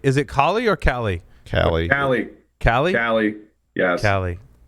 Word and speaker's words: Kali: Cali. Cali. Cali? Cali. Yes. Cali. Cali. Like going back to Cali.